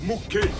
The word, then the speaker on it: Mou: Mou, ça se prononce Moué.